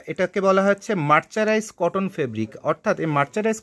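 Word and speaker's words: mercerized: এইটাকে বাংলাদেশে বিভিন্ন ব্যবসায়ীরা উচ্চারণ করতে পারে না বলে মার্সারি ফেব্রিক না এরকম কী কী উচ্চারণ করে, যেন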